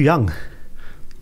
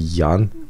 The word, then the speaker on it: Jan: So it's pretty funny, like, cause even like ask how spell my name, I said Y-A-N, so they can pronounce it properly, Jan instead of Young or Jan.